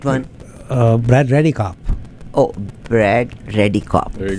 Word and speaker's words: Redekopp: Okay, you pronounced the right one. Brad REDEKOPP.